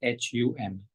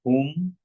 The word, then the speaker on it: hum: then Hum, which is H-U-M. So this last part can be said as hum or whom. You would hear me saying whom.